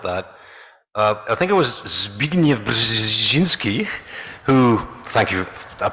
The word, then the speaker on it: Zbigniew Brzezinski: To throw a curveball at that, I think it was Zbigniew Brzezinski who, thank you, I pronounced that correctly, absolutely did.